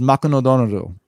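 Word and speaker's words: マクドナルド: So McDonald's becomes Makunodonoru.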